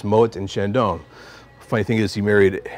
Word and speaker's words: Chandon: names it's Mo and Shandon funny thing is he married a French woman so it's Mo and Shandon being the French part of the affair but